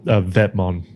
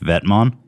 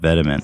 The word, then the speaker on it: Vetements: It's a Vetmon. Oh, it's called pronounced Vetmon? Yeah. Really? I've literally always heard people call it Vetements.